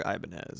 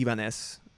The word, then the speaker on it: Ibanez: Since the other guitars aren't quite doing it for me right now, I'm making another Ibanez, and we'll come back to those other ones later.